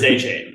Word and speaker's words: Achane: That's how you pronounce it. It is Achane.